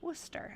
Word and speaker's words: Worcester: Father went to Worcester. I don't know if that's how they pronounce it, but in Massachusetts, that's how we pronounce it.